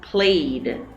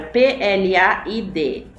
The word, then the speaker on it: plaid: Even though it's written played, it almost looks like you would pronounce it played, né? Quando você olha para a palavra P-L-A-I-D, P-L-A-I-D, você olha para ela e você quase quer pronunciar played, mas não, é pronunciado plaid, ok? Yeah, this is a word